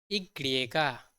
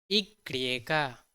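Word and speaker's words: y griega: वाई को हम बहुत ही अलग तरीके से इसे प्रोनाउंस करते हैं, इसे हम कहते हैं इग्रिएगा, इग्रिएगा।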